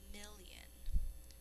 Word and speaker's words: million: Million. Number 14. Million. 1,000 thousands is 1,000,000. We say it with 2 syllables, but we're going to think to spell it with 3.